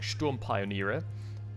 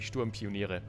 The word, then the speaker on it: Sturmpioniere: However, whenever I'm pronouncing a German word while I'm talking English, I'm choosing, deliberately choosing, I guess, the English pronunciation of the German word, which is weird. So I'm saying Sturmpioniere, which is not accurate, which it would be Sturmpioniere.